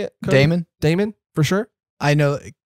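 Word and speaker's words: Daemon: diamond damon you know how you say it damon damon for sure i know because that's the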